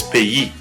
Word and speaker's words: pays: So the example here is pays. Pays. So again, the stress is on that final syllable, pays.